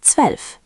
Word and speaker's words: zwölf: 12 is zwölf, 12. Again, z equals ts, zwölf. Zwölf. Make the ts clear, zwölf.